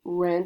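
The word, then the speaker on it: 人: running around and ren it's pronounced ren it means a person so ren means person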